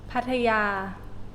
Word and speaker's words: Pattaya: Pattaya.